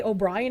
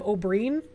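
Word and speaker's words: Oberyn: Cringe when I say O'Brien instead of Oberin.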